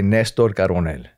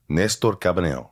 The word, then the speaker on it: Néstor Carbonell: My parents would say Néstor Carbonell. Néstor Carbonell. Néstor, yeah, there's an accent on the E if you want to throw that out.